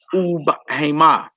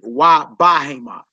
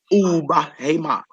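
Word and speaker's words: ובהמה: Notice it is bayit ub hema. It's not bayit wa bahema. We know bahema means animal, right? It's bayit ub hema.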